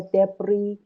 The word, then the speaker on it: debris: مثلا مثل mend، مثل orbit، مثل debris که S pronounce نمیشه.